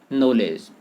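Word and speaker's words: knowledge: है उदाहरण के लिए देखें नॉलेज अब नॉलेज में के एन डब्ल्यू का उच्चारण नहीं हो रहा है जबकि यह वर्णन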